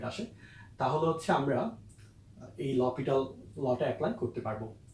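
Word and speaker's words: L'Hôpital: অনেকে এটাকে লা হসপিটাল বলে, একচুয়াল উচ্চারণটা হচ্ছে লপিটাল।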